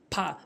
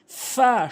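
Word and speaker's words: فاء: এরপরে ফা ফা ভুল উচ্চারণ, ফা ভুল উচ্চারণ, ফা সঠিক উচ্চারণ, ফা সঠিক উচ্চারণ। উপরের দাঁতগুলো নিচের ঠোঁটের পেট মিলিত করে আপনি উচ্চারণ করবেন ফা ফা।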